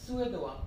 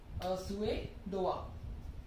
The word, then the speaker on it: Suédois: In French, it is Suédois. Suédois.